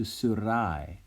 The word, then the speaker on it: Syrae: Now, notice that Syra's name has changed from Syra to Syrai. When I pronounce the AE, it sounds like a long I in English.